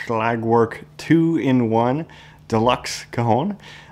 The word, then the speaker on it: Schlagwerk: coone behind me is from slag work I think that's the way you pronounce it it's the uh twoin